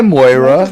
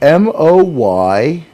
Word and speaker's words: Moira: Hi, Moira, which is how you say that name. Moira? See, Yeah, I need to put it's an an accent. Irish name. So think Moyrah. Moira.